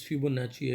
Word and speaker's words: Fibonacci: Hello students, a very important video for you, that is Fibonacci series, and actual pronunciation for this is Fibonacci actually. So you may pronounce it that way.